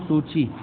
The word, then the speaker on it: सू की: ऑन्ग सैन सू की, जो थे प्रोनाउंस सूची, उनको सूची बोला जाता है, उन्होंने इलेक्शन जीता।